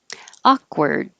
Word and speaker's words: awkward: just say kaz awkward you don't have to release the k akka word hold your tongue in the k position awkward awkward and so this is spelled a-r-d but it sounds the same as word spelled with an o so it's e-r-d um if you have trouble remembering it think of it as were the past tense we were going there with a d word wrestlemania no t wrestle